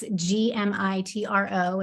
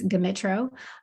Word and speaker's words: Gmitro: It's Gmitro, and some people don't know whether the G or the M is silent. It's not. It's Gmitro.